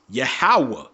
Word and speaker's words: Yahweh: So if you go to Paleo Hebrew, his name was pronounced Yahweh.